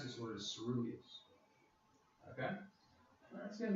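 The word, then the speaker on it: coeruleus: So that's how you pronounce this word, is ceruleus.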